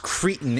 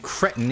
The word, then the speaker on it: cretin: Asterisk, it is pronounced cretin in American English and cretin in British English. Why I have chosen to pronounce it cretin when I am very distinctly an American who does not speak British English, I do not know.